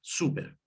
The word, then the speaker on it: súper: Y la opción, por ejemplo, súper. Súper termina en este caso, la última sílaba es per, así que va el acento en la U.